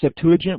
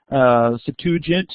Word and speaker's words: Septuagint: It was the city where the Septuagint was produced. Septuagint, or Septuagint, depending on your pronunciation, is the Greek translation of the Hebrew Scriptures.